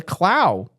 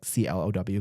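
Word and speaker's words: Clough: She is the Clow. It is uh spelled C L O U U G H but it's pronounced like C L O W clow.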